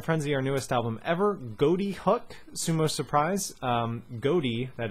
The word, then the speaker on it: ghoti: But anyway, okay, so think of the GH as an F at the beginning of Ghoti.